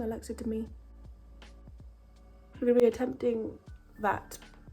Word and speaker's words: Alexa Demie: to be attempting that Alexa to me is how you say her name Alexa to me I'm gonna be attempting